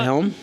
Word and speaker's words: Helm: Isn't it Helms with an S? Helm. Oh. Scott Helm. One Helm. Yes.